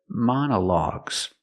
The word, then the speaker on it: monologues: is a short uh sound like cup and up mana mana man logs and the last o is the a sound like dog and call a logs together monologues each o has a different pronunciation example you can listen